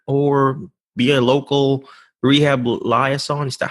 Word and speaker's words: liaison: start from there, or be a local rehab liaison. Is that how you pronounce it?